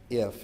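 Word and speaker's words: IFTTT: There's a free online software which is pronounced IF. It's just like gift, but without the G on that, and it stands for if this, then that.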